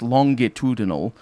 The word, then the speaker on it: longitudinal: it actually has longitude actually in english it's pronounced longitudinal so it would have longitudinal longitudinal grooves in the pedal that would make